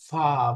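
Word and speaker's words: فاء: ফা বাংলা প্রতি অক্ষর আছে ফ। ফা বাক্য উচ্চারণটা হলো জিহ্বার কি বলে উপরের দাঁতের আগা নিচের ঠোঁটের মাঝখানে লাগবে। ফা। ফা কামড়ের মতো।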